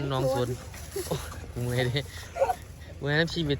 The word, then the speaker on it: หนองโสน: หนองโน ตะโก ตำบล หนองโสน หนองโสน อ่าน ว่า สน กู อ่าน หนอง สน เมื่อย เด เมื่อย นำ